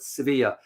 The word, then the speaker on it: Sevilla: In Spain, when you go to Spain, you pronounce the Spanish language, they call it Sevilla.